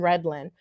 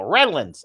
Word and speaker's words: Redland: of um homestead and redland you pronounce it correctly most people go redlands i could know red